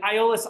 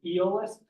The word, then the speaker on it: Aeolus: After Odysseus returns back to Aeolus's island, and Aeolus, I call him Aeolus because of my Greek. His name is often pronounced as Eolus, and even so his original name is this, and actually it's this.